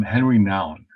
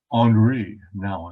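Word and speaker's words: Henri Nouwen: this guy the name henry noun actually canadian and little canadian french so you would pronounce it andre now and unrenowned and he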